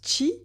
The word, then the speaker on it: Qi: On le prononce chi en chinois, qui en japonais.